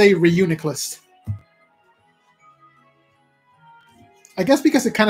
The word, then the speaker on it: Reuniclus: I said that wrong they put the emphasis on the weird syllable Reuniclus that sounds weird to me I just say Reuniclus I guess because it